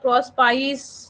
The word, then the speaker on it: Prospice: इसको बहुत लोग प्रोस्पाइस या कुछ और भी पढ़ते हैं बट मैंने तो प्रोस्पिके ही पढ़ा है, तो इसलिए मैं प्रोस्पिके ही प्रोनाउंस कर रही हूँ।